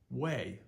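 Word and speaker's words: wei: a little bit but this one is pronounced like way like no way way it's pronounced like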